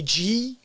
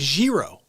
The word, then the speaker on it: gyro: say that because okay how do people say when you go to a greek restaurant and you get a g-y-r-o how do you say that people go gyro and i'm like i'm not greek but it's it's zero it's a zero right so when i